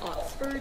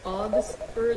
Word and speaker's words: Oxford: He talks about, he mispronounces Oxford. Instead he says Augsford, like O-G-G-S-F-O-R-D.